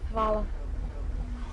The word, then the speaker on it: Hvala: Hvala.